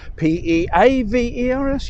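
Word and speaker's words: Pevors: P-E-A-V-E-R-S? Yeah, maybe O-R-S at the end, but definitely an E-A or double E. No. P-E-V-O-R-S with no apostrophe. Just Pevers. But it's not. The correct pronunciation is Peavers.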